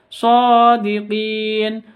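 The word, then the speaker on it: صادقين: izhar syafawi izhar syafawi shodiqin SH panjang dua harakat karena ada tanda berdiri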